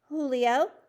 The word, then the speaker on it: Julio: your name young man julio julio sanchez he pronounced it the spanish way with a j having an h sound you have a couple